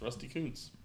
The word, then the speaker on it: Rusty Kuntz: It's Rusty Kuntz.